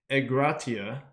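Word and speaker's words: ἐγκράτεια: through in a couple other spots but it's pronounced e gratia and it expresses the virtue of one who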